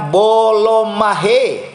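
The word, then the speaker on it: βούλομαι: Nah, kata keinginan dalam penggunaan bahasa verb Yunaninya, etimologinya menggunakan kata bouloomai. Bouloomai atau bacanya bolomahe.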